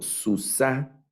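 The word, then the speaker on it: סוּסָה: masculino singular Ahora leo Susana Recuerden el acento al final susa es femenino singular este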